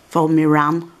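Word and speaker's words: Foamiran: Foam Miran, as it actually is, but I always say it wrong.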